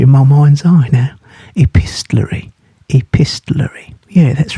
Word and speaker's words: epistolary: Epistolary. Now I'm going to spell that for you.